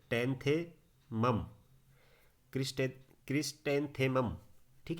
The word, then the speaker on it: क्रिस्टेंथेमम: इसका नाम है क्रिस्टेंथेमम, यानी कि ये देखिए क्रिस्टेंथेमम, ऐसे पढ़ेंगे आप इसको। अलग अलग तीन तीन पार्ट्स में बांटिए इसे। ये है क्रिस, ये है टेंथेमम, क्रिस्टे क्रिस्टेंथेमम।